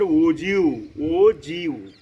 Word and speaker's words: ogive: So the term OGU is generally pronounced as OGU, and it is derived from the word OG.